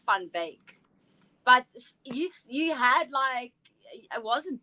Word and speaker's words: Van Wyk: So the way it's actually pronounced, because it's Afrikaans, is Van Wyk.